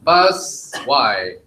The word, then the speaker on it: Busy: Now we have Team Bus Y. Hi guys, This is Justin. We're Team Busy. Emphasis on the first three letters.